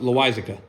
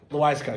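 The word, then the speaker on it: Loáisiga: I don't even know how to pronounce his name. Lucas L. He wasn't bad. Oh, you're talking about Loizica. Loizica, yes, thank you.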